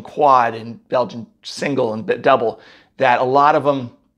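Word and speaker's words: Dubbel: 1930s I think the double came out first d-u-bbel and it's pronounced that way double it looks some people want to call it dubel or uh triple it's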